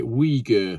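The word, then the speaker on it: Uyghur: I couldn't pronounce it lots of people said you say weer so that's what I'm going to go for made by weager slave labor many will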